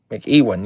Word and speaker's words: McEwen: We got Tom McEwen. I think is how you say that. Irwin McEwen. I always have a hard time with that one. Every time. McEwen.